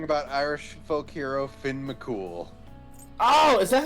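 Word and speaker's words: Cumhaill: Kummel. Nope, Cumhale? nope. Because we were talking about Irish folk hero Finn McCool.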